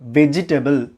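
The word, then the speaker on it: vegetable: இப்போ பாருங்கள், வெஜிடபிள் இதை எப்படி ப்ரொனவுன்ஸ் பண்ணக்கூடாது? வெஜிடபிள். There is நோ E sound in between veg அண்ட் டேபிள்.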